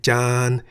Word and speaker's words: จาน: Why the middle tone? Well, the single syllable in the word Jan is a live syllable because it ends with a sonorant final consonant no-nu.